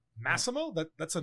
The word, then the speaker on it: Massimo: they away like Massimo or Maximo like it's not even that hard pronounced like Massimo people tell me like what's your name okay